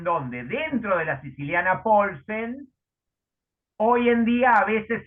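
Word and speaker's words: Paulsen: La que adoptó el negro, Jorge Luis, se llama Siciliana Poulsen, como el jugador del siglo XIX que jugaba en la época de Morphy. Se escribe P-A-U-L-S-E-N.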